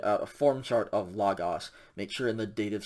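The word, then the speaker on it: λόγῳ: i mean english words we are not going to actually pronounce that the date of singular of lagos is not like okay omega yota la it is just logo because that yoda subscript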